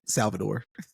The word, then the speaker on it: Salvador: that uh us accent Salvador that's me trying to to say it like the locals in Portuguese but um the one